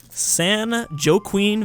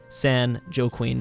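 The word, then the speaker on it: San Joaquin: this San Haim Valley San jqueen Valley I'm sure a lot of people thought I'd pronounce it like that I am almost guarantee about 75% of people watching this thought I was going to say San Joe Queen Valley but not today crack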